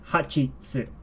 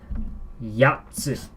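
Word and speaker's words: 八つ: that stays the same, 8 is not hachitsu. It is yatsu.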